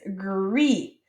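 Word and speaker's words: gris: red all right and so this one is pronounced like rue and then je all right our next one that we have is gree gree all right and gree might be kind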